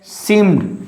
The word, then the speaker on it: seemed: Seemed. Here is E is silent.